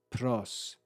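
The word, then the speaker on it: πρὸς: We then have P, Rho, Omicron, and final sigma with grave accent, pros, pros.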